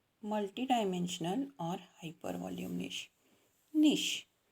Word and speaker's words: niche: निश spelling कशी आहे बघा, NICHE, प्रोनाऊन्स करायचं आहे निश.